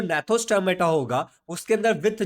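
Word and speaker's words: Gnathostomata: ये जी साइलेंट है तो नैथोस्टोमेटा बोलेंगे। अब ये क्या होता है और ये क्या होता है, ध्यान से समझता है।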